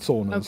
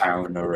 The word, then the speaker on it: sauna: sauna again. Sounds ridiculous. Sauna. Oh, sorry. I say it with a fucking Scandi accent on accent.